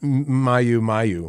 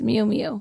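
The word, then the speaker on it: muumuu: so Kurt and I looked up with the pronunciation it's not Mayu Mayu which is how it's spelled yeah it's meum meu there you go uh cat and cow wait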